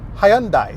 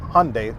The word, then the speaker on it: Hyundai: And if you're in the UK or anywhere in Europe, it's pronounced Hyundai there, not Hyundai like over here in the United States.